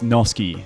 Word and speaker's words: Noske: How do you say your last name? It's Noske. So Noske.